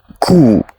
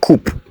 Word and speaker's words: coup: Next, this is coup, not coop. The P is silent.